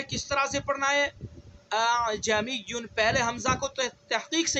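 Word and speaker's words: ءَأَعْجَمِيٌّ: پہلے حمزہ کو تحقیق سے پڑھنا ہے، دوسرے حمزہ کے اندر تسہیل کرنی ہے. اعجمیٌ اعجمیٌ اعجمیٌ.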